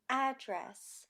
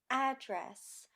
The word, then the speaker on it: address: or adjective contest produce address perfects i always buy produce at the supermarket i wrote my friend's address on the envelope we often stress the second syllable of a two-syllable verb can test produce perfect address